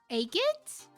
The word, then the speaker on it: Agate: How did you pronounce it? Took you a while. Agate. Agate?